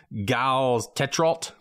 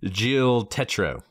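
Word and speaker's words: Gilles Tetreault: to Dark boutine because it looks like G's tetral that is not how you pronounce his name his name is Jill Tetro I think that's pretty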